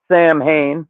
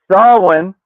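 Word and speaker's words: Samhain: They're trying to unleash Sam Hayne, which it's pronounced Sawin on day 70 of learning fucking uh Gaelic on this side. Could have known that one for a while. Um and Sawin is just a season.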